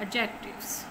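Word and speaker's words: adjectives: द यूज of paired एडजेक्टिव्स, ठीक है। डी इसमें साइलेंट है, फिर से बता रही हूँ कि डी इसमें साइलेंट है, बाकी सब सारे जो लेटर्स हैं उसको हमने पढ़ना है। एडजेक्टिव्स, एडजेक्टिव्स, एडजेक्टिव्स।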